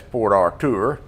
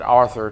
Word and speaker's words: Port Arthur: uh which is referred to as locals as Port Artur if you pronounce it Arthur to them may look at you like you